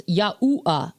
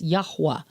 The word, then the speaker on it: Yahweh: Now, I see lots of people spelling it without the W, and that's fine, but according to English grammar rules, without the W, it's Yahuwah. And we know his name is not Yahuwah, it's Yahweh. So that's why you see